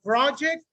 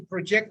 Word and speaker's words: project: noun the stress is in the first part if it's a verb the stress is in the second uh part so this rule we can apply this rule for project or present exactly exactly how do you say project project where is the stress first i have a project so i have to project my ideas so it's exactly the same word but pronunciation is different why am i telling